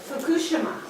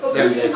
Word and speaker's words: Fukushima: How do you say it with the emphasis on the second? Fukushima.